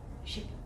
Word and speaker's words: ship: So the way I do it, the way I teach it is, imagine it in ship, the I doesn't exist. So the word is spelled S-H-P. How would you pronounce that?